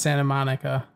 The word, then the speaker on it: Santa Monica: But it's Santa Monica with no T in the Monica.